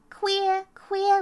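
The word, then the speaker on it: khuya: Queer, which means night or midnight. Ah, that's a good one. Queer. It's really spelled like K-H-U-Y-A. That's how you spell it.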